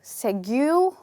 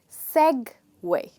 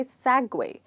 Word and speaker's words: segue: actually pronounced as se so in this word the first part is stressed this word is actually segway okay so you stress on the first part and you say segway now you must be